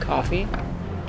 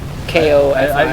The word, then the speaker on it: Ko-fi: to call it, but apparently it's actually called coffee. Yeah. Like, K-O-F-I. Yeah, I've heard people talk about Ko-Fi, which I think is a decent way of like distinguishing it. I guess, yeah. Because it's spelled with a K, so it's like.